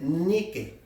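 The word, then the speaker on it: νίκη: de una palabra que se escribe n i K e fíjese bien Dice nique que en inglés sería Nike No desde ahí sacaron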